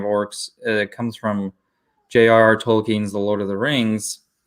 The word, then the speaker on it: Tolkien's: modern understanding of orcs that comes from junior Tolkien's the Lord of the Rings and yes that is how you pronounce his name I wanted to see if